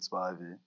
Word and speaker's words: Spivey: or so it's my my full name is Spivey Spivey sorry it is sp it is sp but everyone just can't pronounce it so we just say spib in in general my older brother his